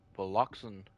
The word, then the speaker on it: Valoxan: Oh, so it's pronounced Valoxan.